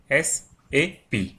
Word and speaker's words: SAP: It is pronounced as individual letters SAP.